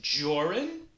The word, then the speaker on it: Jorrun: i'ma help you out my name is joran that's jor rhymes with ore and run which is what you